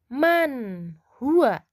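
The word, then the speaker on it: مَنْ هُوَ: Doni bertanya kepada Dino Man khua nah ini bacanya manhua Man artinya siapa Hwa artinya Diana anak-anak bisa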